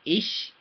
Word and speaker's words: ich: Ich, I-C-H, it looks like it'd be like itch, like an itch, right? But it's not how you pronounce it. You say ich.